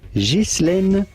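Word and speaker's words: Ghislaine: Now, in French, this is normally pronounced. Jishlen is how it wait what you pronounce the s would be said in France.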